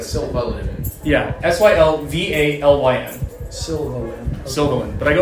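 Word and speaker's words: Sylvalyn: It's like Sylvan, but Sylvalin.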